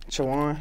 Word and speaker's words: Chowan: So you graduated high school, and you got that scholarship for football at, how do you pronounce that college? Chowan University.